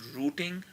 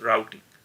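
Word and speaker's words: Routing: तो आप इसको दो तरीकों से प्रोनाउंस कर सकते हैं, यूज रूटिंग जो कि मैं अमूमन यूज करूंगा, या यूज राउटिंग। तो दोनों प्रोनाउंसिएशन करेक्ट है।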